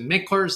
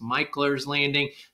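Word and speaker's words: Mickler's Landing: parking at mich's Landing some people pronounce it mickers that's not correct it's michler's Landing that's probably your your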